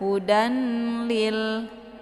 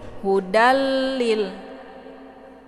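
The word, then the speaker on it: هدى لل: Jadi jangan dibaca sebagai 'hudan lil'. Ah, itu salah baca. Namun yang benar adalah ' hudallil'.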